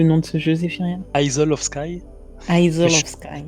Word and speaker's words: Isle of Skye: Je reste sur mon Hill of Sky et vous saurez que on parle de ce fameux jeu qui...